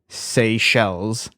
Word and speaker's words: Seychelles: But Seychelles, or however it's pronounced, I'd have to see it. It's Seychelles.